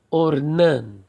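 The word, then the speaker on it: אָרְנָן: Geralmente, quando você tem uma palavra que na primeira sílaba não tem acentuação, automaticamente a acentuação tônica recai sobre a última sílaba. Então, ornan, ornan.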